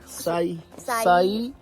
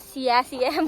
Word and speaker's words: Siyeh: Sai. So we used to call it Siyeh, but then we found out that it's a Siyeh Pass. It's called Sai Trail.